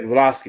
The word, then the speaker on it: Blavatsky: Yeah, Blavatsky, that's how you say her name.